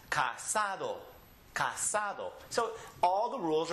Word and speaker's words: casado: And this one ending with an O, the next to last, casado.